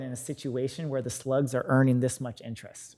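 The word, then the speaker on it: SLGS: um state and local government securities they're called slugs so which is SL um GS is how pronounce it slugs any money invested in these in this security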